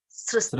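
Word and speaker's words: सृष्टम्: How to pronounce Sristam. this, Prabhuji? Maya Maya, Sristam. Maya Sristam.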